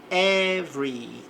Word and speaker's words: every: Aqui o e não é pronunciado na palavra aqui antes do R. Every.